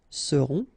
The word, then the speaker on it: seront: pronounced, then O-N, on, seront, vous serez, Z together at the end, et serez, alright? Ils seront, final T not pronounced, and then you've got this nasal, on, seront, elles seront.